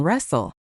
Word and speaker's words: wrestle: Just a heads up on wrestle. The w at the start is also silent.